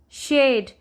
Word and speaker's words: shade: let's learn with me shade here this is magic e it changed the vowel say its name a so I'm not saying if I say shared it's wrong we will say because